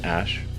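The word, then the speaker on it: Æ: the the name significance the AE is like pronounced Ash and then uh a12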